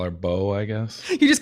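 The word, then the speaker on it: Boe: So B-O-E? E is silent. Could be like Bowie, instead of Zoe.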